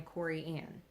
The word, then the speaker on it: Corianne: And I am Corianne, Cori space Ann.